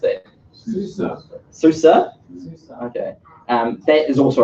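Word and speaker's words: SUSE: yet soo say you're happy how is any pronounce it Susur okay and that is also a really massively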